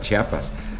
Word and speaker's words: Chiapas: se levantaron en chiapas no sabíamos ni pronunciar chiapas decíamos chapas como marcos y molduras